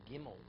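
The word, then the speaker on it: גימל: even differentiate between a gimel game oh where is himmelen Zion they pronounce it differently they pronounce the Yemenites gimel Jim oh they don't say gimel like the they say Jim there their pronunciation the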